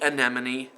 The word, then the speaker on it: anemone: to the correct answer what sound does the last e and sea anemone make well since I know how to pronounce that word I know it's the long e sound but it also tells